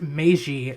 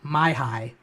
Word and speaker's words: Meiji: I distinctly remember when we were taking world history where I had to inform the history teacher that the word was pronounced Meiji, not Maihai.